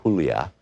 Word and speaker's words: Julia: I began to speak to Julia, pronounced Julia, in Spanish.